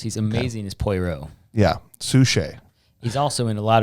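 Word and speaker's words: Suchet: lou gossett jr and how do you say david sushee yes he's one of my favorite actors he's amazing as poirot yeah sushi he's also in a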